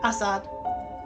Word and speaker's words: Assad: Uh, Assad Zaman, his name is Assad. Yeah, I think that's how you pronounce it. Assad. You put emphasis on the first syllable.